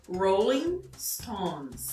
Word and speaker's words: Rolling Stones: A pronúncia do rolling deve ser feita com esse Retroflexo, então enrolar bem a língua, né? Rolling, não rolling. E st também cuidar para não inserir nenhuma vogal, som de vogal antes de pronunciar o S. Então, Rolling Stones, não, e stones, né?